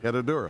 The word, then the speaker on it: Herradura: Herradura.